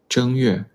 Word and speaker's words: 正月: Option A, 正月. Option B, 正月. Which one is correct? Which tone is the correct tone for the first character? Option A. The first character is pronounced with the first tone.